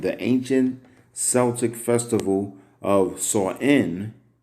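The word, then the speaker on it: Samhain: ancient celtic festival of saw in pronounced saw in meaning end of summer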